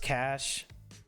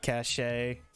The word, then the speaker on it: cachet: Just cash? Yeah, the way that you pronounce that, it's just cash. Not cachet?